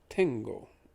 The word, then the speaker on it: tengo: front of it so think of the word tango but with an e where the a would be it becomes tango becomes tengo let's pronounce both words